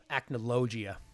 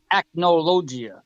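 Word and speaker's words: Acnologia: It's just an emphasis emphasis on the O. Aloia. Acnogia.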